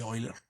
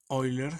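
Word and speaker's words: Euler: pero me encanta porque eiler así lo voy a decir oiler se escribe eer pero creo que se pronuncia oiler eiler dice que se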